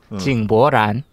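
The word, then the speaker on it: 井柏然: 중국 발음. 저 알 것 같아요. 징보란.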